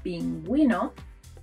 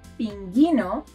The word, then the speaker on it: pingüino: As a result, we get a smiley U, like in the words pingüino, or bilingüe, bilingüe, bilingual. If we skip the spell, these words will sound pinguino or bilingue, and we don't want that.